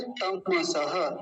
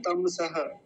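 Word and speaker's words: तमस्: बोलेंगे अगला शब्द है तमस तम सह नहीं बोलेंगे कुछ लोग म को आधा करके क्या बोलते हैं तम सह तमस गलत उच्चारण है तम सह तम ऐसा बोलेंगे तम सह ठीक है जी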